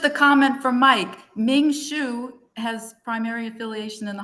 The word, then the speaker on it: Hsu: reach out to Ming Shu. Tell me the name Ming Shu. Ming his spelled the last name. It's pronounced shu but it's hsu.